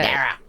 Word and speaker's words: Dara: I got to get a bit more nasal there, don't I? Yeah, that's, you really got to. Dara.